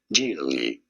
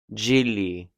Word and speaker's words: Gigli: In Italy, this is said as Gigli. Gigli.